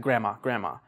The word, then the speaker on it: grandma: So, like, for example, grandma or grandma, you, like, native speakers, you don't really say the D, you just say like grandma.